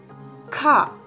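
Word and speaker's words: ख: ആ ഖ. എന്താ മനസ്സിലായോ? അതായത് ആ കായുടെ കൂടെ ഹായും കൂടെ അങ്ങ് ചേർത്ത് പറയാം, അപ്പോൾ കറക്റ്റാവും. ഇങ്ങനെയാണ് ഖ ക ഖ.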